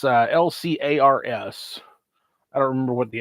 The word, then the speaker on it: LCARS: And I feel like it used to be everybody said Lars, that you just kind of you made the C silent, because it's if you're